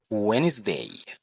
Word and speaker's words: Wednesday: Wednesday. وخلي بالك حرف الدي في Wednesday صامت ما بيتنطقش.